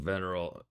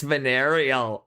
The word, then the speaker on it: venereal: Stop pronouncing veneral. Veneral. It's venereal. It's venereal.